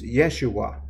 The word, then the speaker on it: Yeshua: Christ matter of fact if you pronounce his name in Hebrew is Yeshua which was the name